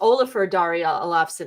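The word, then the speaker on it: Ólafur Darri Ólafsson: There it is, Olafur Dari Olafsson. It's on the screen. I'm sure I butchered that terribly, but he's been in a few things as well.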